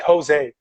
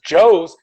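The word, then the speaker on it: José: they say names like jose jose is spelled j-o-s-e but no one says joe's hey joe's no they learned to say jose when they see that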